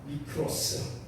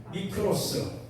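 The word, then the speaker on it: μικρός: 미크로스. 요거 영어식으로 읽어보세요. 위자는 영어의 M자하고 같습니다.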